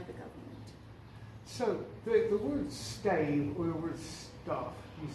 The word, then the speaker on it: Stav: Some people say Stav and some people say stave. So my pronunciation of it is Stav.